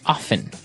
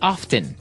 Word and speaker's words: often: Now with pronunciation some people like to pronounce often, right? They kind of leave out the strong T sound. Well other people say often. That's right. Both forms are correct, right? Yes, they're both correct.